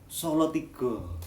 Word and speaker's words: Salatiga: ada yang bacanya Ombo misalnya Salatiga tulisannya Salatiga Tapi bacanya apa solotigo Hai salah jangan salah